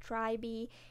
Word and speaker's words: TRI.BE: I know right now, that's what they told me I should pronounce it, Tribee, so hopefully I'm okay now.